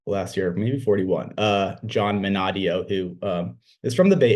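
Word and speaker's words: Minadeo: Minadio. Minadio.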